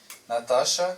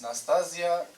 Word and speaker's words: Nastasia: I know I should not say Natasha, so it's Nastasia, but surname.